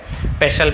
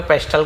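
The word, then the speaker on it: pestle: तो गलत हो जाएगा बट पढ़ेंगे हम इसे पेशल पेस्टल नहीं पढ़ेंगे पसल तो इसका मतलब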